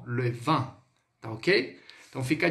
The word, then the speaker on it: vin: Quando a gente pronuncia o vinho, esse IN ele tem som de an, atil, an.